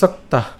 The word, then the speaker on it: সক্তাঃ: এখানে খেয়াল করুন যে যুক্ত বর্ণটি রয়েছে, একে যদি আমরা ভাঙাই তাহলে আমরা উচ্চারণটা করলে পাই সক তয় আকার এবং হচ্ছে বিসর্গ সক্তাহ সক্তাহ।